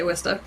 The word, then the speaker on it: Worcester: saw i'm laughing because nobody can pronounce worcester if they're not from massachusetts it's spelled like worcester but we say wista um which is only